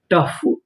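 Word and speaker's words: tough: यहां पर जो ओ है वो हमारा साइलेंट रहेगा। यानी हमें ओ का उच्चारण नहीं करना। यू जी एच फ। टफ।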